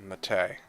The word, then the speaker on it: mate: skiller actually it was wonderful and mate is pronounced mate are you serious oh okay well my mistake